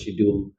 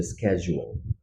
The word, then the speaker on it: schedule: দেশে খুবই কমন না তোমরা পরীক্ষার কোন ক্লাসের শিডিউল পরীক্ষার শিডিউল কাজের ক্ষেত্রে আমরা বলি কাজের শিডিউল বাট এটার আসল উচ্চারণটা হচ্ছে স্কেজু শিডিউল হয়ে যাবে।